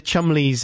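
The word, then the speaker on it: Cholmondeley: Why would you spell it like that if it's Wyndham? Have you never seen, like, you know, the Chumleys and the Fanshawes?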